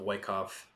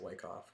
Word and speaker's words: Wyckoff: for part one of Wyckoff trading theory. I like saying it Wyckoff so much better, but I know that I have to say Wyckoff because Wyckoff is the correct way to say it.